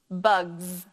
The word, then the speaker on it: bugs: more than one bug how do I read this word bugs suffix s is making the Z sound let's talk about how